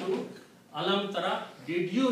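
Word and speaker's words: أَلَمْ تَرَ: So alam will remain there, ta will remain there, but alif and ya are weak letters. In the pronunciation they drop out just to make it easy. So this word will become alam tara.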